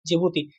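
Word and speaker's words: Djibouti: रेटिया और डी से जिभूती। सर डिब डी से जिभूती कैसे होगा? जे से नहीं होगा। हां। इंग्लिश का भी याद रखना। वरना जे से ही जिभूती कहते रहोगे। उसमें डी साइलेंट होता है।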